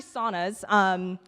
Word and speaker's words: sauna: It's actually saunas. Sweaters, get it, because you sweat. Sauna is actually a Finnish word, and it's pronounced sauna.